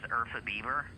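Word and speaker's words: Urfa biber: I pronounce it as Urfa Bieber, but it's not related to Justin Bieber.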